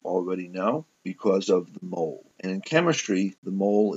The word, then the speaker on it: mole: And yes, I am aware that that Mexican sauce is pronounced mole.